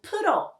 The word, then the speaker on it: 프로: Percentage is pronounced as 프로 in Korean.